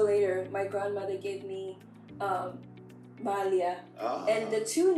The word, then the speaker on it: Malia: Did I say that properly, or do you need to correct me on how I pronounce it? I need to correct you a little bit, It is Malia.